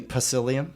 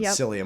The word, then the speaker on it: psyllium: So we'll do um You mean you mean pacilium? Pacilian. Yeah. Yeah. I know people always ask me how to spell it.